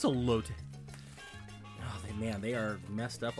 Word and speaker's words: elote: What is a lot? What this? It is elote.